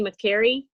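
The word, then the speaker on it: Makary: How do you say that? Marty McCary. Yeah, Macri.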